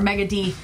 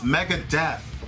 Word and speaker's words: Megadeth: It's Megadeth. But it's spelled like D. No, it's not. D-E-T-H. You keep saying it's D-E-A-T-H, and it's not. It's not spelled like Deeth. Deeth would be two E's, like teeth.